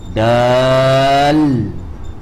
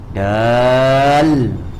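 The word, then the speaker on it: دال: Then you end with the L. Dal. Understand? It's supposed to be this is supposed to be this arrow. Dal.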